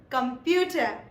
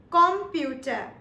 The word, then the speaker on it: Computer: Now, these are, for example, number 1, computer. The only difference that we have is in the pronunciation. In English, we call it computer, while in German, we call it computer.